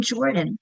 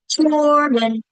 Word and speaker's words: Jordan: doing it to whisper, my first syllable is a little louder than the rest. I can clap it. Jordan. Jordan. My first clap is louder because that's the accented part of the syllable.